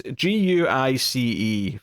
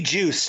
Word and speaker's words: Guice: Yeah, it's Guice for the sake of the audience, but it could be Juice too. Yeah, it could be. Yeah, you're right. It could be a soft G.